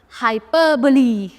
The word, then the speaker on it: hyperbole: Next, hyperbole. Hyperbole, पहले इसका pronunciation याद रखना.